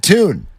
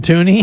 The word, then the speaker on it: Tune: of w it's just tuned I think yeah Clayton Clayton tune well he doesn't pronounce it toony I don't think so